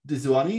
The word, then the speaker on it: Dezuanni: digital technologies, Professor Dezuanni. Is that how you pronounce it? Yeah, that's good.